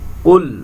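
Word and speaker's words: قُلْ: বানান করে করে পড়বো কুল এখানে কফটা কলকলা হবে মোটা হবে বাড়ি খাবে তালুর সাথে ধাক্কা দিয়ে পড়তে হবে কুল আউ আডা বলতে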